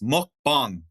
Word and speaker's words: mukbang: Let me let me educate you guys. It's mukbang. Mukbang. Mukbang.